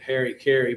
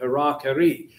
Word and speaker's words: harakiri: anyway, suicide, the harakiri, which Americans came home pronouncing it Harry Carey, but harakiri.